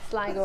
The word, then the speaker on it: Sligo: I have family from there, so that's how you pronounce it. All right, to County Sligo. As in it's quite sly over there. Yeah, so. Sligo.